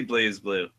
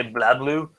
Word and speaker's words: BlazBlue: blue or black blue I say blazblue yeah I've I often hear Japanese traders say bla blue so yeah I'd say place blue I wouldn't just Japanese